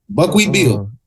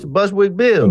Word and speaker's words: Bushwick Bill: I'm not gonna say the name wrong. What is my little man's name? Hold on. Is it Buckwheat? Buckwheat Bill. Yeah, it's Bushwick Bill.